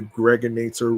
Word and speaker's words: Gregonator: I'm your man, aka the Gregonator, rhymes with now or later.